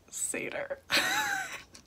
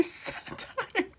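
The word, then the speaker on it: satyr: know i know i know it's pronounced seder i have no idea why i say satan is rover a parody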